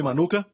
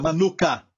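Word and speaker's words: מנוחה: Tem até um mel com este nome, manuka. Certo? Mesma pronúncia, manuka.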